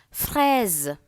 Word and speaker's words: fraise: When you have one S or Z, S-U-Z, it's pronounced as Z. Fraise.